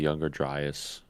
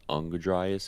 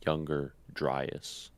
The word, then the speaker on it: Younger Dryas: he has is the younger driest impact hypothesis which i just found out it's not pronounced underdries it's younger driest yeah younger dries i thought